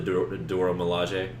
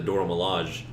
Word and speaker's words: Dora Milaje: A+ on pronunciation. Thank you. I had been reading it wrong apparently for years. I had been calling them the Dora Milaje.